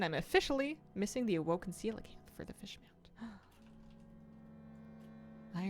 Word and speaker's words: coelacanth: How to pronounce coelacanth.